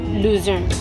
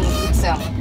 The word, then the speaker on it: Luzern: How do you pronounce Luzern? Luzern. German Luzern.